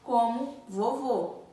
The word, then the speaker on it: vovô: Já o acento circunflexo também é utilizado na sílaba tônica das palavras, porém, quando a palavra possui o som fechado, como vovô.